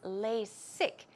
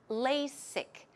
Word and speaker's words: LASIK: about that as well the pronunciation of LASIK here is lay sick it's not a Z but rather S sound okay the strong s LASIK LASIK LASIK surgery when did